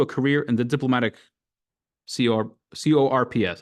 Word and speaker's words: corps: science and pursue a career in the diplomatic CORPS. How do you pronounce that?